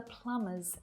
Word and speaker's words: plumber: There were lamb crumbs under the plumber's numb thumb. Your turn. Notice that all of these silent B's have an M before it. Lamb, crumb, numb, plumber, thumb. So this is a good clue.